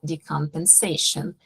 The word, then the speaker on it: decompensation: recognize early signs of decompensation. Outra palavrinha tricky, a gente fala descompensação em português, e em inglês é decompensation, é igual desfibrilar, é defibrillation, defib do patient, não tem esse S, prestem atenção.